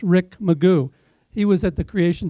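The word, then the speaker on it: McGough: asked for help is as it's spelled MCG ough Magoo I went to Houghton College Hou gh T au n so to me it's ho tons so that's why I'm not sure so it's Rick Magoo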